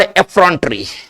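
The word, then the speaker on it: effrontery: एक वर्ड एफिमिनेट, एक वर्ड एफ्रॉन्टरी। टेरी, टरी नहीं टेरी।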